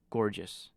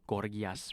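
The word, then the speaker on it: Gorgias: protagoras moo Symposium and gorgeous that's that's not how you pronounce it is it uh it's probably something like gorgas or something some you know that's how the Greeks would pronounce it but anyways uh yeah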